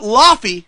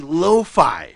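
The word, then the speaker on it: Laufey: it a couple weeks ago and that's not lafy because I called her ly last time it's actually Loi you pronounce it Loi Loi of course so that's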